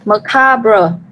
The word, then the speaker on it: macabre: Từ này mình đọc là macabre, nhấn vào bằng 2.